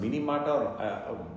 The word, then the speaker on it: Minamata: disease, sometimes spelled M-I-N-I, so it can be pronounced Minamata, correctly actually it is Minamata disease.